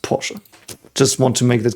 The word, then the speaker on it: Porsche: I think and you know you you say pora it's pronounced pora just want to make that clear because I've